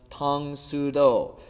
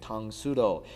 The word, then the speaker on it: Tang Soo Do: Now if you read karate in Korean it would be pronounced tangudo.